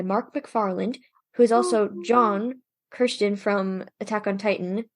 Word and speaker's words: Jean: McFarland who is also John Kirsten from Attack on Titan who's his name is John but the first name is spelled the same as jeans so it's it's hilarious